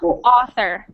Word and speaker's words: author: sound good next one so we pronounce that not even though it's a and you we pronounce it like ah author author author good there you go the reason it must sound with that th is because do you know what an otter is okay yes i know